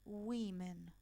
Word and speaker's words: women: Entonces va a quedar, y acá, ojo, porque cambia hasta la pronunciación. Si acá es woman, acá es women. Woman, women. ¿Ok?